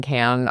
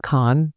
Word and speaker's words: Cannes: It is not con for everybody trying to be pretentious. It is can.